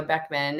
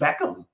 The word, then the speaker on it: Beckham: And Romeo Beckman, and it was a fused. Beckham. Beckham. Oh my goodness. Beckham, a Beckham child. Yes, Beckham child.